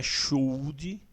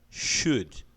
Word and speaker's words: should: Lembre-se de não pronunciar o L, então não é should, o L é mudo, você vai pronunciar should.